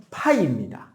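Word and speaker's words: φ: 우리 P를 한글로 적을 때 피읍으로 쓰죠. F는 한글로 적을 때 보통 뭐로 적어요? 피읍과 히읗의 중간쯤으로 발음하지. F. F랑 있잖아. 얘는 파이고 얘는 파입니다. 흐 발음이 살짝 들어가야 돼.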